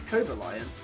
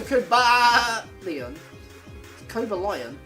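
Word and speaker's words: Cobalion: It's coba lion. Cobalon. It's not a sheep. You don't go ka co a lion.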